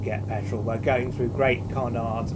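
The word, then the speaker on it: Great Cornard: We're going through Great Connaught, or Cornard, they pronounce that, and Bewers.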